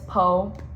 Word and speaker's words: POE: It's PO. I pronounce it as PO.